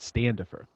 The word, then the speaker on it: Standafer: I'm going to do my very best to pronounce the T because some of our best friends for years, their name was Sandifer. So when I Oh, first saw your name, I thought I have a hard time pronouncing it Standafer.